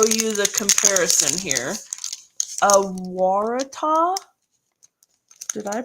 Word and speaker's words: Waratah: And this is Waratah. And Elisa says, yes, it's pronounced correctly.